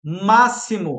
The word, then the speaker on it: máximo: Máximo tem som de S, igual a saber.